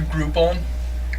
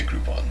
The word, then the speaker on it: Groupon: I've never used a Groupon before. Neither have I, but I imagine they're pretty cool. Yeah. I can see that being alright. Yeah. I mean, it's a coupon, so It rhymes with group.